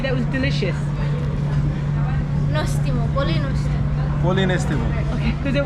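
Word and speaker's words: Νόστιμο: Nostimo, polinostimo.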